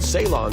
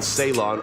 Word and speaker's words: Ceylon: That word Ceylon is, as a matter of fact, a mistaken pronunciation of the Portuguese word Ceilão, the name given by Portuguese explorers who discovered it.